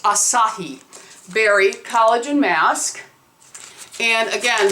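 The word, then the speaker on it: açaí: we have the Asahi Berry and it is pronounced Asahi Berry collagen mask and again that one has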